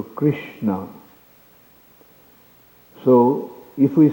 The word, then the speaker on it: Krishna: To think that it is something of this world, like Krishna, the name Krishna is a combination of 4 syllables. Ka, Ri, Sha, Na. So Krishna.